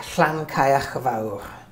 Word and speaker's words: Llancaiach: by pronouncing it wrong so how do you pronounce it clan kayak Clan Clan means uh in cin of the